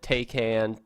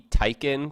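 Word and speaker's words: Taycan: do you say it I believe on supposed to be Taikan because that that would be how a German person would say that ta Y would be like tae Poong Taikan yeah so you can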